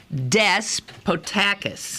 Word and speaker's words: Despotakis: Okay, but so the accent is on what? It's Despotakis. Despotakis. Yes.